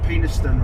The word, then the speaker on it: Penistone: Pronounced Penistone Road.